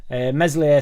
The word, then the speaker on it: Meslier: Meslier, silent S in net.